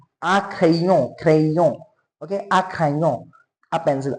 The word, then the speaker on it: crayon: The sound of Y is E. A crayon.